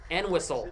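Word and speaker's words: Entwistle: And whistle. I'm being told that's how you pronounce.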